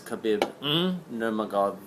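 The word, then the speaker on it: Khabib: think the one of the next Champions is kabib that's exactly how you say it um way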